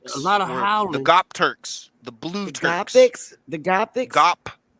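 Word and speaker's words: Göktürks: The Gopturks, the blue Turks. The Gothics? Not Gothics. Gop, G-O-P, Turks, T-U-R-K-S. Said or pronounced in Turkish, Gopterics.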